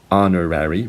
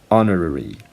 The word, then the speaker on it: honorary: so that's pronounced and again Americans say honorary British people say honorary so honorary and honorary